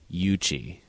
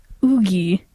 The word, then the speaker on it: Yuqi: have an understanding that the Romanized letter Q is supposed to represent the sort of CH sound when spoken. So spell it again for me. Yuqi. So my guess would be Yuchi.